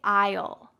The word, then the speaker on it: aisle: oh i'll io so forget the a at the beginning forget the s and just say i'll i'll it kind of